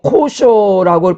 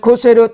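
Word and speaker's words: כשר: 영어로 코셔라고 발음하는데요, 본래는 코세르입니다. 즉 코세르 딱지가 붙은 음식은 율법에 적법하게 처리되어서 정결함에 문제가 없다는 것을 나타내주고 있습니다.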